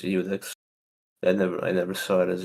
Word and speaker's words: Iudex: But I've never heard Iudex. I always thought it was Udex.